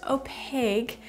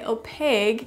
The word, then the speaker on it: opaque: usually a solid layer of ink it's usually pronounced opaque but some people say oh pig and I know some of you have a